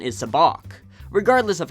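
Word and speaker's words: sabacc: in a game against Lando some people incorrectly pronounce into SABIC while the correct pronunciation is a balk regardless of how you say it it's always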